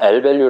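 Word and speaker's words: lvalue: 있는 상태 아 괜찮아요 그 발로 이런거 아니에요 l 벨류 라고 발음 하시면 됩니다 자 그래서 요건은 아마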